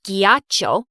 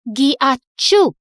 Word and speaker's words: ghiaccio: No, it's not ghiaccio. It's pronounced ghiacciu.